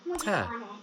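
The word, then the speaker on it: ت: makes a t sound and the baby a on top makes a short a sound, together we read them as ta.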